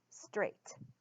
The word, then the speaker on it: straight: T on the end so this the silent I which follows the rule of two vowels walking the a does say its name and the I is silent then we've got a GH that is also silent straight and that word